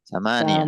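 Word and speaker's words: ثمانية: Samaniyah. Memnya ditekan panjang ya. Samaniyah.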